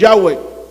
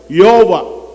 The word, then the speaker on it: Yahweh: Pronounced as Yahweh. Yehovah.